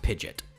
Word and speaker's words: Pidgeot: it's pigeon it's pronounced pidget it's even spelt like pigeon but with a t at the end it's it's literally pigeon